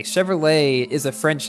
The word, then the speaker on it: Chevrolet: the time like in Chevrolet Chevrolet is a French name even though it's an American company that's why the T at the end is silent so I figured it